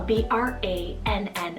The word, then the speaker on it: Brannon: and sound we have the name brannon so b-r-a-n-n-o-n brannon almost like an alternative to like brandon